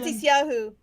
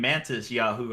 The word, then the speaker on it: Matisyahu: Matisyahu. Matis Wait. Yahu. Okay, Yeah. I thought you were saying Mantis Yahoo.